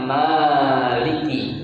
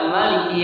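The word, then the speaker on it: مَالِكِ: Ya, kalau kita membacanya Maliki, mimnya dipanjangin. Ya, lantas apakah salah ketika ada orang baca Maliki Yaumiddin? Enggak salah juga.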